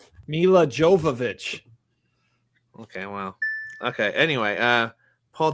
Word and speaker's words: Jovovich: you already mispronounced one, Todd. Yeah, Mark it. we got a What did I say wrong? Jovovich, Mila Jovovich.